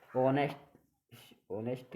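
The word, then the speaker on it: honest: इको, ऑनेस्ट भी इसमें क्यों, ओ से पहले एच आ गई इसमें साइलेंट है।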